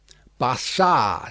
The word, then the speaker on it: Barsad: "Bassard," said Defarge, making it French by pronunciation.